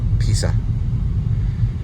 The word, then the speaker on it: Pisa: Looks like we got the Leaning Tower of Pisa right there. I think they actually say Leaning Tower of Pisa. It's not a Z, it's actually a S. Pisa. Almost like saying pizza, but Pisa.